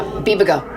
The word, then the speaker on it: Bibigo: Yeah, Bibigo. Bibigo, thank you for pronouncing.